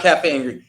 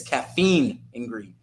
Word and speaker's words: Caffeine and Green: you It's not Cafe and Green. It's Caffeine and Green because I always say it wrong every single time.